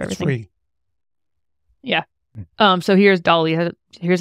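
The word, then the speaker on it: DALL-E: I've been putting in some inputs into Dolly so people could see kind of what you're talking nice.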